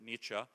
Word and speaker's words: Nietzsche: question expand Beyond Nietzsche just learn how to pronounce it Nietzsche you know German guy that was right about